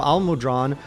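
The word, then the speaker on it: Almudron: i just realized now al-mudran rhymes with long he's i have a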